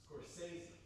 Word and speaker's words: Scorsese: Oh, how to pronounce Scorsesi. Let's see. Scorsese.